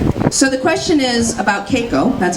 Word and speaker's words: Keiko: min ago John so the question is about Keiko that's how it's pronounced I'm about comparing caco-2 Lolita and that